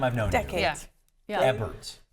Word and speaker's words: Ebbert: Ebbert. Ebbert. Yeah. Think of ebb and flow, people. Are you sure? Get it right. Are you sure it's Ebbert?